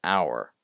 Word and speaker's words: hour: if I say an hour this word it's spelled with an H but you don't pronounce it anyway uh this one